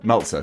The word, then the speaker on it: Meltzer: five stars on the meltzer scale met meltzer meltzer scale yeah that's how you pronounce his name then the crowd will